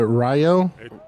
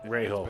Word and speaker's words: Rahal: Is it Rayo? Rahal.